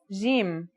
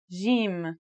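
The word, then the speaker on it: ج: Our first letter is jim. This one is easy to pronounce. It's somewhere between a G and a J, depending on the accent. For example, Standard Arabic, Syrian, or Egyptian.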